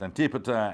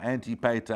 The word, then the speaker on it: Antipater: the egymians called antipater and sometimes spelled you know pronounced antipater antipateta antipasta you can pronounce that a number of different ways he's basically an injury